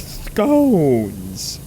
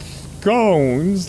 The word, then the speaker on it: scones: March Hare informs me that in educated circles, scones rhymes with bones, like scones. Not scones, like we've been saying, or scones, I guess.